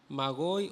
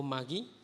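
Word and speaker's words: μάγοι: Es la palabra magoi o magí, como lo quiera pronunciar.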